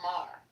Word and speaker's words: Maher: Bill Maher.